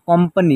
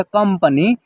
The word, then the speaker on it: कंपनी: यहाँ देखिए, क के ऊपर एक बिंदी है, यहाँ इसका उच्चारण आधा म के रूप में होगा। जैसे आप कंपनी, यहाँ एक साथ उच्चारण करेंगे तो इसका उच्चारण होगा कंपनी।